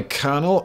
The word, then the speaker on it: colonel: Ever wonder why Colonel is pronounced like Colonel, but K-R-N-E-L?